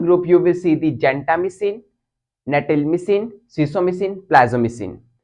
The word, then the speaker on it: gentamicin: or you can say gentamicin, it's all up to you because British says gentamicin, but the American says gentamicin.